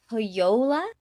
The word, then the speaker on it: Pohjola: So when I looked it up, it looked like it was pronounced as a Y. So I've been pronouncing it with a Y sound.